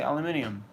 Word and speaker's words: aluminium: say the word well in America you say aluminum England you say aluminium so it's not so